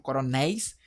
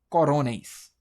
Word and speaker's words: coronéis: Aqui a sílaba tônica última, coronéis. A gente fala corôneis. A gente não fala corôneis, a gente fala coronéis.